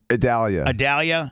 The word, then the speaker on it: Idalia: So anyway, we talk about Tampa-based stuff right now, and how do you officially pronounce this tropical storm? Idalia.